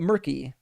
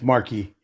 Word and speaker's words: Marky: All right, let's get uh Murky. I have no way I'm pronouncing this name right. Right. How you doing, Mark? Uh, this is it's Marky.